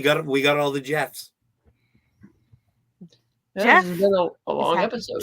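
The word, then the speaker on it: GEF: we got all the Jeffs a long episode GF yes pronounced Jeff it's pronounced Jeff oh thank you to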